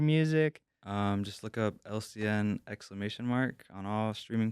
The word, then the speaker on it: Elsian: my teachers would pronounce it wrong my classmates pronounce it wrong they say alysian you know and I was just like okay